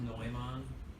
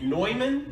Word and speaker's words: Neumann: bowl directly against a highly sensitive, professional grade Newman microphone, the microphone doesn't dent. Not that I know of, anyway. It's pronounced Neumann. Is it really? It's German. You're kidding me. Neumann?